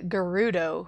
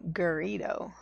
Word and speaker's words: Gerudo: like like look at the Gerudo who I kept calling gerrito because for some reason my brain thought there was an eye in there um whoa it just